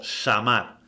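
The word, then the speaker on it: שמר: Veamos la concordancia de la palabra guardar, pronunciada como shamar, concordancia de Strong Hebrea 8104, que significa guardar, proteger, cuidar.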